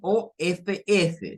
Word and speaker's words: of: Miren, el sonido es of con una V, no con la F.